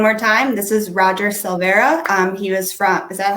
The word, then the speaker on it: Silvera: So one more time, this is Roger Silvera. He was from, is that how you pronounce it?